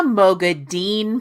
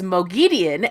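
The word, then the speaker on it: Moghedien: to find out she's a Mogad Dean person. I couldn't stand talking to her about the series. She said she liked her pronunciation, which was lame. Then I bought her hooked on Wat Phonics. Now she says Mogian.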